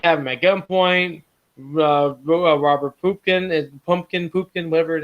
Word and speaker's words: Pupkin: No, Pupkin. Pupkin? Pupkin. Pumpkin. Pumpkin. He has to sit. We're just doing right there. He has to tell everybody in the movie how to pronounce his freaking last name.